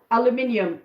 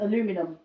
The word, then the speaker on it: aluminium: Aluminium, yes, that's another one. Aluminum in America, aluminium over here.